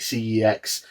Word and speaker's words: CeX: has been added called Sex Voucher. Sex, obviously, the exchange shop here in the UK. Some people call it CEX, but they've literally had adverts where they pronounce it sex, so that's what I call it.